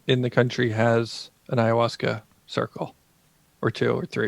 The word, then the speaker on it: ayahuasca: what's the story that what is haigha Wasco am I even saying it right close enough for you know Coe stuff for a white guy yeah ayahuasca my brother's no H at the beginning is there yeah the H is later in I'm not a